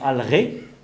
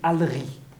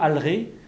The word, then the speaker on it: Alré: Alors, on prononce actuellement en breton Alré, mais je n'ai pas l'impression... Enfin, il me semble que personne ne dit Alri. Alors, je n'ai jamais entendu Alri, toujours Alré. Le fait qu'on ne prononce pas Alri ici en breton de la côte, breton donc Narvor, ça prouve que la voyelle d'origine n'était pas un E, mais un AE.